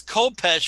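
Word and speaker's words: khopesh: Yeah, it's How say Kopesh. It's Kopesh for sure.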